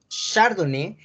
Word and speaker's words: Chardonnay: La pronunciación es Chardonnay, que está en francés.